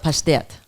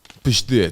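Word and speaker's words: паштет: In Russian, when it's pureed liver, we call it pashtet. Pastet.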